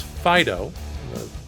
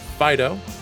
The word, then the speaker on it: Phideaux: to it scen so the artist is known as Pho pretty certain I pronouncing that correctly four years of high school French should be enough to help me handle it but that's what I'm saying Pho and I actually thought it